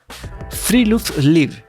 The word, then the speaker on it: friluftsliv: lo que ellos llaman, y perdón si lo pronuncio mal, Freeluth Noruega tiene una cultura de vida al aire libre.